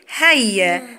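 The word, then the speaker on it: هيّا: الياء المشددة يعني ايه مشددة؟ حرف كتبته مرة واحدة بس لما نطقته، نطقته كم مرة؟ مرتين.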